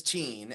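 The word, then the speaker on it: Teign: Yeah, no, I want to call it Tyne, but it is Teen, and then it's called Tinmouth.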